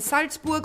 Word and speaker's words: Salzburg: Sound of Music takes place in Salzburg, and in Salzburg or Salzburg, I say it right, so everyone can understand. This is where Stiegl is from. Stiegl is from Salzburg, and you can go